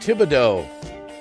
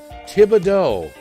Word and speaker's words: Thibodaux: It's pronounced Thibodaux. Thibodaux.